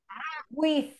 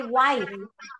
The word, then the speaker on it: with: preposition this one with with with okay because some of you say white no it's with with with a z at the end like this um with with with